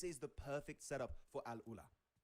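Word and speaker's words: AlUla: Circle going to be great for Al Ula, which by the way, Mao and Arabic caster helped me pronounce it properly. So, thank you very much, Mao. Yeah, Al Ula.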